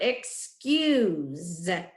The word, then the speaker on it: excuse: three was the word excuse use the S is making the Z sound the U is along u so it needs a sailing e that's a tricky word